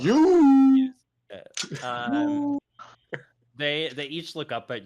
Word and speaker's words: Iuz: yeah, it's IUZ is how you spell it. You.